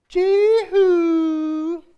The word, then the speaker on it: Jehu: She's like, Jehu. You have to say it like that. Like in my Bible, that's how it's like. Jehu.